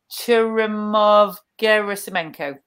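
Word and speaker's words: Churyumov-Gerasimenko: Let's do it syllable by syllable. Churyumov Gerasimenko.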